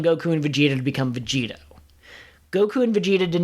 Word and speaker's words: Vegito: you've shown me listen vegito rhymes with cheetos and while cheetos are